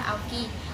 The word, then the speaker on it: Aukey: Aoki đó, đọc đúng là Aoki.